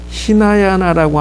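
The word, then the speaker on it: हीनयान: 이거를 히나야나라고 한다. 요 발음을 반드시 기억해 놓으셔야 돼요.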